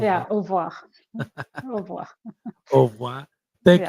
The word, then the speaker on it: au revoir: So how do you say au revoir? Is that it? Au revoir. Yeah, au revoir.